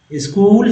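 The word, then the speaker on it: school: स्कूल में H silent है, स्कूल, children, ये को अन,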